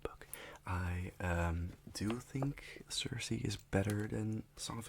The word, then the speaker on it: Circe: I only just discovered it's pronounced Cersei like the Game of Thrones character because I thought it was cerse or serious seriously or something I don't know whatever King um sarasi apparently uh and it's